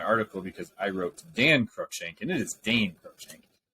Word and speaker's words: Crookshank: I have Houston Carson safe and Crookshank.